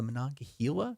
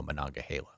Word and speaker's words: Monongahela: I'm going to continue calling it the Monongahela because that's how we say it over in my neck of the woods, people. Yeah. But apparently if you live in Western PA, if you're native to that part of the state, you go Monongahela.